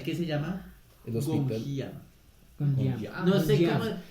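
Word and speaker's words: 곤지암: Gonjiam. Gonjiam. No sé Gonjiam. cómo. Gonjiam, sí, no Mi estoy mal. coreano es pésimo. Pero sí, lo pronunciaste bien.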